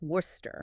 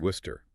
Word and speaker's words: Worcester: It is only two syllables. Worester. Worcester. Let's break down that compression. The W holds strong as the first syllable was. And then the entire cection is just brutally reduced.